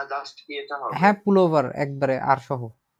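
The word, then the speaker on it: Pullover: বলা হয় হচ্ছে ডিয়ার পুল ওভার ডিয়ার পুল ওভার পুল ওভার পুল ওভার স্যার আর টাকে উচ্চারণ হবে না জাস্ট ইয়েটা হবে হ্যাঁ পুল ওভার একবারে আর সহ উচ্চারণ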